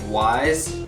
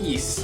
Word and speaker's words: Ys: the game looks like wise it's actually pronounced East like Easter please not counting the